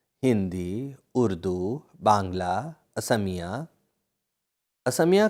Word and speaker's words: असमिया: आर्य भाषा परिवार में हिंदी, उर्दू, बांग्ला, असमिया असमिया का उच्चारण अखामिया भी होता है।